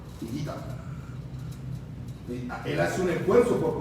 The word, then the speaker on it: Higuita: Y a mi hijo le dicen Jaigira. Jaigira. Pero solamente el entrenador de fútbol americano que lo conoce, que tiene una relación, y él es bien gringo, es Higuita.